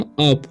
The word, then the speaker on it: UP: ठीक है, मतलब इसे पढ़ेंगे हम अप। ठीक है, यानी कि इसे उप नहीं पढ़ना है, क्या पढ़ना है अप, क्योंकि यू का उच्चारण जो है अ हो रहा है।